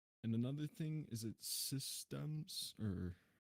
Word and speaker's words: Sysdemes: I say Sysdemes, but people can. Everyone says something else. I don't really care. People can say whatever they want.